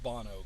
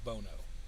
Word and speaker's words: Bono: So the locals would tell me don't call it Bono, call it Bono.